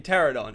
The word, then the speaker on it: Pteranodon: to ignore it but the p is silent in Pteranodon and I was like